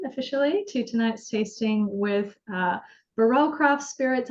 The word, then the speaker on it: Barrell: Alrighty, well, welcome everyone officially to tonight's tasting with Barrell Craft Spirits. I know it's technically pronounced barrel, but it sounds fancy in French when I put an accent on it, and it avoids the whole like who's on first joke.